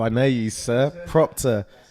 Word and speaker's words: Proptar: how I may use Proctor how you spell it Matt so doctor yeah I get a lot of people say pop star or pop star or is Proctor so Proctor's p ro p ta are gonna get